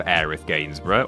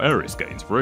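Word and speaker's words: Aerith Gainsborough: and untimely death of aith gainsboro or Aris gainsboro if you want to get the other pronunciation about this in previous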